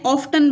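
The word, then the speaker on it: often: एफ टी ई एन ऑफ्टन बनता है लेकिन हम इसको ऑफ पढ़ते हैं क्योंकि इसमें टी साइलेंट है ट्विस्ट इस तरह टी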